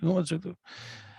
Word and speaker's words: Umozulu: Zeno Umozulu. He told us how to say it. Umozulu.